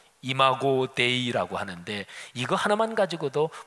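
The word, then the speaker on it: imago Dei: 가지로 얘기합니다 해석이 아주 다양합니다 하나님의 상 라틴어 발음으로 이마고 데이라고 하는데 이거 하나만 가지고도 뭐 책 하나를 쓸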